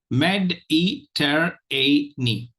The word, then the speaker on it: Mediterranean: just look at it Med e ter a knee or of these which has a long wall or a diphthong if you notice met e ter a so this the fourth syllable has a likely has a very good chance of getting the primary the primary stress okay so it will